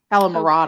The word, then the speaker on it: calamarata: Calamarda, I believe is how it's pronounced. Marata? Yeah. Calamarata.